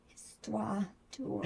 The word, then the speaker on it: Histoire d'ours: Histoire d'ours. Histoire. The H is silent. Right, histoire.